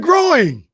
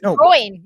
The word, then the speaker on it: groin: I said groin. Groin. Groin. It's one syllable. That's what I just said. Like groin. You said it growing.